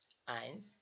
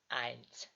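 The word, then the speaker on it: eins: উচ্চারণের সমস্যা হবে না যেমন এ পরে যদি ই থাকে তাহলে এটা হবে আই যেমন আই এন এস আইনস যেমন এস এখানে আমরা হচ্ছে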